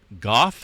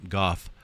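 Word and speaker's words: Gough: zones there let's see the Goff is that right I'm thinking that's the only way you can pronounce that uh Goff cough right cough Goff all right fracture Zone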